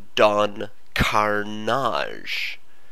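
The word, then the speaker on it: Don Karnage: half Spanish accent, was a character called Don Carnage, being, sort of the French pronunciation of carnage.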